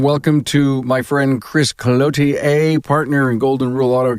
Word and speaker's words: Cloutier: And I finally got the French pronunciation of your name, Cloutier.